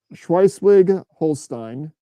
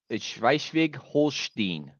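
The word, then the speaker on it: Schleswig-Holstein: the German lowland of schwi Swig Holstein I butchered that I know I speak a little bit of German it's shig holin thank you where wolf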